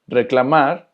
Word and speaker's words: reclamar: Cuando se encuentra al inicio de una palabra, se escucha como una J de nosotros. Por ejemplo, ratón en portugués se dice jato, jato. Reclamar se pronuncia reclamar, reclamar.